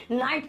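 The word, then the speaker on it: know: माने होता है जानना उसमें भी के बाद एन है तो किस साइलेंट रहेगा नो ना की नो आई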